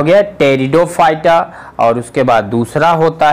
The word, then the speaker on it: Pteridophyta: आता है, लिख लीजिए, टेरिडोफाइटा। इंग्लिश में भी लिख देते हैं, पी साइलेंट होता है, PTERIDOPHYTA। ये क्या हो गया? टेरिडोफाइटा।